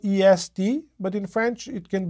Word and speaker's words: est: One of them is the third person singular of the verb to be, in which case this word is pronounced just E, or it can be the word for east, in which case it's pronounced as est.